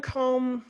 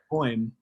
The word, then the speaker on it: Kouame: you know, like Kevin Combe. I don't know if, am I pronouncing your name right, Kevin? How do you, Combe? No, that's not right. Tell me how to say it right. Quoim.